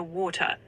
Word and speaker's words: water: In a British accent, let's say a standard Southern English one, you'd likely hear water, with that T sound more clearly pronounced. Water. Exactly. That crisp T in the middle gives it that classic British ring.